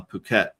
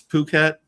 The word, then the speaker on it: Phuket: it was, you know, it's uh apparently it's pronounced uh Phuket. I had some friends over in Phuket and uh I kept calling it it, but it's Phuket and and I was like,